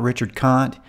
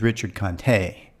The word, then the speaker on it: Richard Conte: one apparently it's not Richard Kant according to Google the pronunciation is Richard Conte I've noticed that in